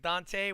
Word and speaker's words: Donteay: yourself real quick, Dante, while I am rewriting your name up here? Yeah, make sure it's spelled Donteay.